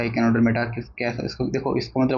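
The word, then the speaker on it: Echinodermata: अब हम बात कर लेते हैं इकाइनोडर्मेटा। कई बच्चे इसकी प्रोनाउंसिएशन गलत बोलते हैं बहुत ज़्यादा, एचिनोडर्मेटा। ठीक है, इतना भी नहीं होना चाहिए यार, इकाइनोडर्मेटा इसको बोलते हैं, क्या बोलते हैं, इकाइनोडर्मेटा, राइट।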